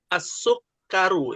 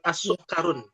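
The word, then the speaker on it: السُّكَّرُ: Wahidan asukaru ya bukan asukarun.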